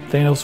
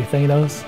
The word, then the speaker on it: Thanos: a really bad guy i always say thanos i think most of us say thanos but joe casada scolds us and tells us his thanos because i guess that's the original greek pronunciation my argument is that